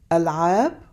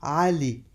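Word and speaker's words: علي: and ah which is an a sound again pronounced from way back in your throat ah like the name Ali on the other hand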